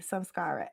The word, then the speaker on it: samskara: uh some Scott s a m some s-k-a-r-a samskara s yes some Scholars okay yes okay yeah